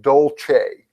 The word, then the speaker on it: Dulce: people want to Google d-u-l-c-e Now that spells Dulce but it actually pronounced Dolce Dolce is an underground